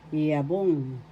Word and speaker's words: yabong: The accent is in the second syllable yabong.